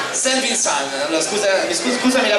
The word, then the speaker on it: Saint Vincent: anni scuola Alfredo Totti Festival Saint Vincent si pronuncia Saint Vincent Allora scusa scusami la pronuncia finalissima poi anime